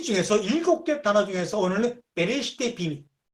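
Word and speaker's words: בראשית: 구약에 정확히 50번 나오는데 이 레시티라는 말이 정확히 50번 나오는데 그 중에 창세기 1장 1절은 앞에 베이트라고 하는 전치사가 붙어서 베레시티라고 발음하는 그러한 문장은 구약성경 전체를 뒤져도 딱 4번 나옵니다.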